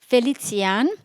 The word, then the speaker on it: Felicijan: How do you pronounce that? Felicijan.